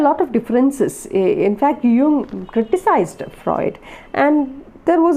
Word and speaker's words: Jung: by uh carl jung it is pronounced young and not junk okay to you now